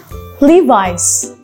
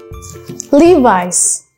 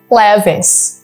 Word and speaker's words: Levi's: of brand from paris okay so we can pronounce it this is one brand of friends levi's levi's many people say this is like lavis but it is pronounced levis levis nike nike